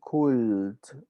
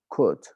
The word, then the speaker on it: could: of this one could remember not to pronounce the l you don't say cool a very common mistake especially with sp in spanish-speaking people don't say cult it's not cult is could not pronunciation of the letter l so anyways let's check